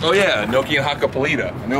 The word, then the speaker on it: Hakkapeliitta: in California and I'm like, oh yeah, Nokian Hakkapeliitta. And they're like, what did you just say? Huh? And I was like, Hakkapeliitta.